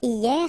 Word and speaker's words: hier: Hier means yesterday, okay? Hier. So remember, this H here is not pronounced, okay?